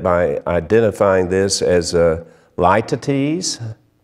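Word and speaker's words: litotes: identifying this as a light to tease light to tease i had to look up the pronunciation it's a figure of speech l-i-t-o-t-e-s it's a light at ease it's this figure of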